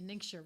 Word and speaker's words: NingXia: she gave me a ningxia red package right next to red you're like i used to actually pronounce it ninja because that's what it looks like what you feel like